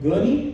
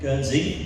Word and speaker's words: Guernsey: But interestingly, you came from a small little town called Gurney. Am I pronouncing it right? Guernsey. Guernsey, yes.